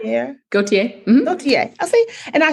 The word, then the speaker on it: Gauthier: Gauthier? Or Gauthier? Yeah. Gauthier.